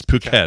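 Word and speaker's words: Phuket: k t because that looks like oh uh Pucket so it is Pucket not I'm sorry puet puket sorry it's puket it's not effit okay that's that's good for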